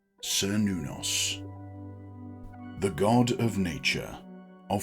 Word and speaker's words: Cernunnos: It's widely accepted that the reconstructed pronunciation is Cernunnos, pieced together from ancient sources. However, the simpler modern pronunciation, Cernunnos, is also perfectly acceptable.